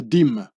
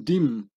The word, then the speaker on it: dîme: this was called une dîme, withholding the French word dix for 10, becoming une dixième or une dîme, pronounced and written like the word dime.